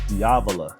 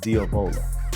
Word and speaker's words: diavola: wrong this whole time it's diavola not diola who knew now this